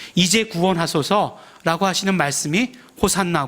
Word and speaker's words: 호산나: 구원하소서 라고 하시는 말씀이 호산나 고 또 히 부려 발음을 조금 더 정확하게 한다면 호시 아 나 라고 이렇게 되어 있는 것입니다 왜 이렇게 말씀을 드린